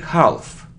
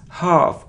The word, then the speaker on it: half: don't pronounce c muscle it isn't half not half it's half a it's long sound a it's half it isn't